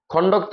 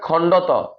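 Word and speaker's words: খণ্ড ত: অন্তস্থ অয় এরপর হচ্ছে যে খন্ডক্ত বলে সঠিক উচ্চারণ হচ্ছে যে খন্ডত অনুস্কার বলে সঠিক উচ্চারণ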